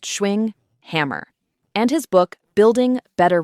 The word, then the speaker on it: Schwinghammer: We're pulling this from Paul Schwinghammer, pronounced Schwinghammer, and his book, Building Better Relationships.